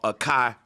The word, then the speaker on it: Akai: Because when you say, like, there's a music company called Akai, and it's spelled AKAI, and the AI is just pronounced I, EYE.